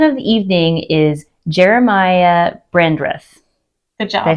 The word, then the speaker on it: Brandreth: but our man of the evening is Jeremiah brandreth good job I say it correctly yes I